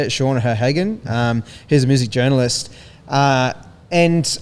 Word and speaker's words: Sean O'Hagan: This is an interview he was doing with this guy Shane O'Hagan. I think is how you say it, Sean O'Hagan.